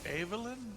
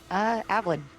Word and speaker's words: Avalyn: Is it Evelyn? Is that how you pronounce her name? Avalyn. And it's actually Avalyn.